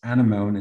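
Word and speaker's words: Anemone: just search it if you want um it's animone it's the plugin and it's a-n-e-m-o-n-e and i'm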